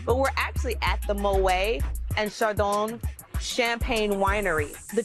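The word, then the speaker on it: Moët: I learned that Moet, the way I've been pronouncing it, is incorrect. They actually do pronounce the T because it's not technically French. So it's Moet.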